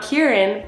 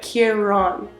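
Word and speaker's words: Ciarán: with the CIA a so it's key but it Ron so not kierin but Kiron interesting oh no this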